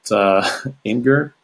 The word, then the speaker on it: Imgur: I don't know if you guys in English pronounce it Imgur, IMGUR.